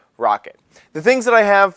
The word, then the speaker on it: Roccat: accessories I called them raw cat because it is spelled r-o-c-c-a-t uh the way they actually pronounce it is rocket the things that I